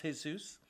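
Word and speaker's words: Jesús: Actually, it's pronounced Jesus.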